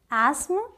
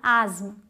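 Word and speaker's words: asthma: या तो इसे बोलते हैं एस्म या फिर एज्म, एस्म या एज्म। अमेरिकन इंग्लिश एस्म और ब्रिटिश एज्म।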